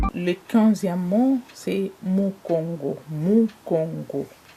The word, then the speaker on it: mongo: 15e mot c'est Mongo Mongo en lingala les U est prononcé ou 16 c'est